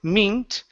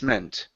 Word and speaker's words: meant: now this last word instead of being mint the word is e me men men good so um Emily asked Mrs Jacobs the lunch lady what this meant try that okay Emily